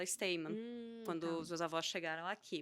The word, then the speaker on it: Steinmann: correto você pronunciou correto Originalmente você fala está mesmo a minha família optou por a portuguesa a pronúncia e a gente fala esse tema quando os avós chegaram